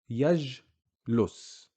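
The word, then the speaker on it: يجلس: Yajlus. Jim sukoon. So here you can see we don't say ja, ju, ji. We just say j. Yajlus.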